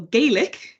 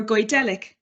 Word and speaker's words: Gaelic: gallic and are what I might call Gaelic just to confuse you uh g-a-e-l-i-c is the the word I'm pronouncing in two different ways or guardelic languages that is to